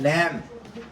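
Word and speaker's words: lamb: not pronounce जैसा कि example लिख ग है लैम लैम जसे एल ए एम बी है उसके अंदर बी जो है वो साइलेंट है हम इसे क्या पढ़ेंगे लैम ठीक है इसका जो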